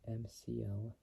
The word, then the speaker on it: McLellan: So from 1975 to like 1986, 11 years later, and Dave McClellan, which is spelled McLellan, say McLellan, succeeded Zora Arkus-Duntov as the Corvette's chief engineer.